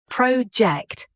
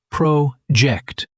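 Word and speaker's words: Projekt: Project like the English way. But in German, I thought, Sarah, in German, it's project. That's what I said. You said project with a soft J like a French waiter ordering dessert.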